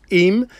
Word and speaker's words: Eyam: little village called eem it's spelt e-m e-y-a-m but it's eem and this is also